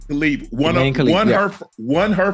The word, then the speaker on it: Khelif: that how you say her name Ash yeah khif khif Won Won her won her first match of